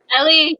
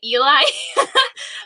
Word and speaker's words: ili: Ellie, yeah. I think Ellie. so. To be honest, everyone pronounces it like differently. Like some people say Eli, but it's Ellie.